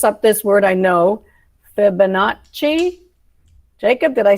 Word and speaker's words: Fibonacci: There's Scratch, I'm going to mess up this word, I know, Fibonacci.